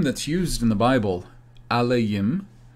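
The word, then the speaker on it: אֱלֹהִים: used in the bible alaim which in masoretic hebrew they pronounce it elohim this is a general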